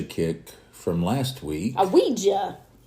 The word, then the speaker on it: Ouija: from last week a Ouija hey you said it right not OU it still sounds like